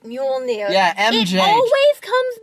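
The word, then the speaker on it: Mjölnir: Can I just say, that shield must be like Thor's hammer, whose name I cannot pronounce to save my life. Mjolnir. Right, Mjolnir.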